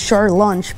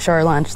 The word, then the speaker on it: Shore Lunch: shoreline no short brunch it's pronounced shar lunch but it's not shower lunch they ran out dude